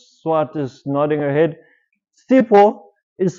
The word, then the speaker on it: Sipho: S-I-P-H-O. What happens if you say that with in English, if you read that, S-I-P-H? Sipho. Now if you say Sipho in Xhosa, it means, Mnumzana Poni, Sipho means poison or disease.